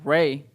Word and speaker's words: Rae: So, but it's spelled it RAE because like Ray.